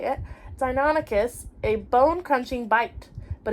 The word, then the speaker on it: Deinonychus: The powerful jaws gave Deinonychus, that's how you say it, Deinonychus a bone-crunching bite, but its serrated backwards pointing teeth were not its main weapon.